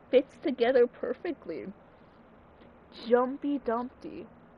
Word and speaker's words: Jumpy Dumpty: Jumpy Dumpty. I always thought it was Jumpty Dumpty.